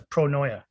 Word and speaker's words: pronoia: and he got through he always says pronoia because it's leading him to the spot it's not paranoia it's pronounced it is